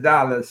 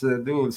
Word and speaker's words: Dulles: Yeah, the Dallas Dulles. I got it wrong.